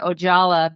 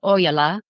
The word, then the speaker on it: Ojala: Well, in America, they do say Ojala, but it's a Finnish last name, which is pronounced Ojala.